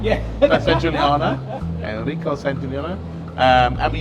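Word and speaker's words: Sangiuliano: also, Enrico, I can't remember his I can't pronounce his surname. Enrico. But he is a really nice San Giuliani. Yeah. San Giuliano.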